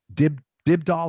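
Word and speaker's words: Dybdahl: Michael Buble, Lang Lang, Thomas Dibdahl. Is that how you pronounce it?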